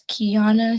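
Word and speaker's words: Keyana: you state your name for the record and spell it please it's kiana k e y a n a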